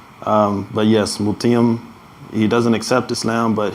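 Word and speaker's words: Mut'im: Mutium. Yes, it's not the easiest name to pronounce, but yes, Mutium.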